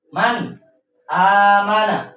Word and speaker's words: man amana: Ya, contohnya adalah man amana. Ya, man amana. Gak boleh kita membacanya dengan dengung. Contohnya seperti ini. Man, gak boleh. Tapi kita membacanya dengan jelas.